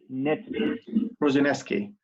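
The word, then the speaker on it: Prosinečki: الراجل sorry Julian, how you pronounce that Croatian player, his name? Prozinewski.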